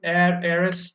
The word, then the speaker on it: heiress: So, guys, we all know that in these words are honest, honorable, heiress, okay, honorary, the H is silent, and the dominant sound is of O.